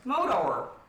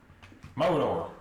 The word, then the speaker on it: Mordor: Modor. You're putting a real short, like, you're putting a real short pronunciation on that first R. Mordor.